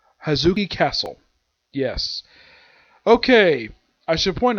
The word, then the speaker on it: Hozuki Castle: How you pronounce the name of this place? It is Hozuki Castle.